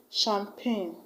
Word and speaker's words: champagne: option C, champagne, because the CH that you find in shuttle has the same pronunciation or the same consonant sound with the CH you have in champagne. The CH in shuttle and the CH in champagne are pronounced as sh.